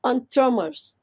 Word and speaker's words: entremets: The entremets. It's pronounced as entremets. It's again a French word which means vegetable cooks.